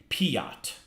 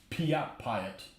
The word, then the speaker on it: PIAT: Normally I pronounce it Piat. Okay. That's what we'll go with. Piat.